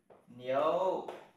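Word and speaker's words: 牛: ngưu là con trâu và tiếng chung nó đọc là gì ạ nhếu là ngưu là con trâu con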